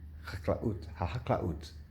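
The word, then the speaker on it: החקלאות: That is from the Misrad HaChaklanut. I can't pronounce it. HaChaklanut. I think it's HaChaklaut. Yeah, Misrad HaChaklaut, which is the Ministry of Agriculture. HaChaklaut. It's not an easy word to pronounce.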